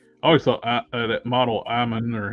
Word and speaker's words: Iman: I always thought that model Iman, or how do you pronounce her name? Iman, yeah.